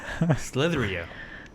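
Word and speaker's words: Slither.io: Slitherio.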